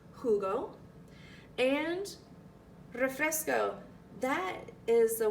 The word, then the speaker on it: jugo: Remember the J is pronounced like a H, so it's jugo.